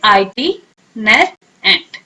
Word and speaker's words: itinerant: अब इसको प्रोनाउंस कैसे करेंगे, आईटी नर एंट, ओके। प्रोनाउंस करें, आईटी नर एंट, ओके।